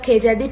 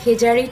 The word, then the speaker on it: Khejadi: ঠিক আছে, next topic, the খেজাদি tree. আর এটাকে উচ্চারণ করা হয় দ্য খেজারি ট্রি।